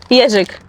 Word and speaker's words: jeżyk: Plastic Jeżyk. How do you say this one? Jeżyk.